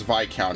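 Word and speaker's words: viscount: an army as well it's vi count isn't it i keep saying it as it's spelled uh we okay we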